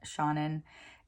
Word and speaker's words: Seanan: and that was Every Heart a Doorway by Seanan McGuire. I thought I said this author's name incorrectly when I did my March 2025 TBR, but as it turns out, you do pronounce the first name Seanan.